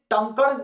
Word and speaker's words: टंकण: English में तो तनकन कहते हैं, हिंदी में अगर इसे प्रोनाउंस किया जाए तो ये टंकण भस्म के नाम से जाना जाता है, जिसको पतंजलि द्वारा निर्मित किया गया है।